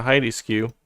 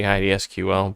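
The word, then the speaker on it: HeidiSQL: Let me check the Heidi skew on that one. I call it Heidi skew. It's actually Heidi SQL, but I'm like one of those people that pronounces acronyms as words because autism.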